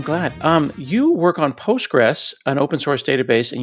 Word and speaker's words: Postgres: Just say Postgress and that keeps it simple. But yes, when you when you spell it with the full official name, there is a there is a QL tagged on to the very end of it.